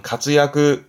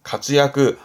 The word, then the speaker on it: 活躍: 발음은 가츠야크, 가츠야크, 활약의 약자다라고 보시면 될 것 같습니다.